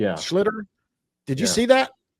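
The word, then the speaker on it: Schlittler: Schlitler. Is that how you say his name last night? Slitter. Yeah, Schlitter.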